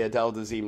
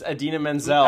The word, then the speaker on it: Idina Menzel: everything everybody knows for last year that he butchered you know her real name I only say adele dazeem now it's idina menzel idina menzel she's marine from rent yeah idina